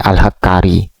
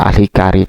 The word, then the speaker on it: Alhakari: Anda cek ini merupakan nisbat terhadap tempat di fathil ha watasdidil kaf ini alhakari bukan alhikari, Pak. Kalau hikari itu semacam fotografer hikari.